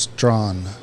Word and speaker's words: Strachan: David Brock uh chimed in and said it's pronounced Strawn yeah he says that it it's uh is